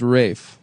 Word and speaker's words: Ralph: Uh, but it is pronounced Rafe.